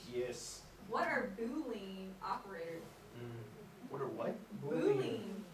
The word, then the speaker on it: Boolean: Boolean. Boolean. Long O's.